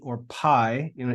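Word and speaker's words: π: Greek letter P or Pi you know in English we say Pi but really in Greek pronunciation would be P it's just p i p it makes the P sound we then have the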